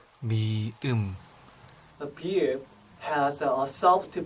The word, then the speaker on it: 미음: The symbol 미음 shares the same beginning sound as meat, followed by the sound. Here you put the emphasis on the e. 미음, 미음.